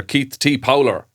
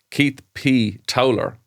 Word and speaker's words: Keith P. Towler: Yeah, this one is provided by listener Keith T. Powler. Sorry, on. Keith P. Towler. There you go. I said it wrongly.